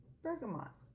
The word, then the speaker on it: bergamot: early soil up this bergamot am I saying it correctly you can say it that way some say burgum Oh Oh without the assignment because it comes from the French okay it's simultaneously uplifting